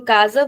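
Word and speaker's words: casa: When the letter s comes in the middle of the word and it is coming between two vowels. Here in kaza we can see it is coming between a and a. So it is coming between two vowels. In that case the sound becomes like a Z.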